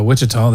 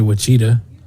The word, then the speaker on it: Wichita: hey there's there's still there's still people that think that say uh wichita they say we cheetah cheetah or they say whiffy for wi-fi wi-fi wi-fi